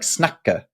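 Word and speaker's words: snakke: it wrong, but it's it's like snacker, right?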